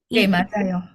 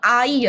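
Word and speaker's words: 애: Nah, jadi huruf ini atau hungle ini huruf vokal ini itu bacanya E. E ya. Gabungan dari A dan I. Tapi bacanya bukan AI ya, Teman-teman. bacanya E. E kayak huruf E. Tapi mulut kalian juga harus ee lebih lebar ya, bukannya E.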